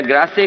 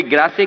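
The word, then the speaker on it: Grasse: France में perfume capital अगर है कोई, तो कोई ग्रासे कहता है, कोई ग्रास कहता है। वो एक प्रोनाउंसिएशन है कि इंग्लिश या फ्रेंच जो भी कुछ है।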